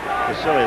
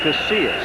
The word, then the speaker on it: Casillas: You see blocking on Casilius. I said it wrong again. Casillas. Casillas. Yeah. I tell you, you will see enough of Casillas to get it right before you're through.